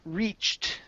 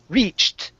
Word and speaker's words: reached: Give me a T sound at the very tail end. Reached. Reach. Okay, now what you're saying, you're ending on the CH. Reach. Okay, I need a T sound at the very end.